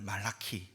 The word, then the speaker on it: 말라기: 말라기 선지자의 이름을 말라키 이것을 히브리어 발음을 그대로 따온 것인데 그 뜻은 나의 사자 혹은 나의 천사라는 의미입니다.